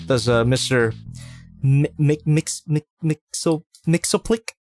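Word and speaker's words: Mxyzptlk: uh mister mcmix mixo mixo click that's how you pronounce it he's pretty cool especially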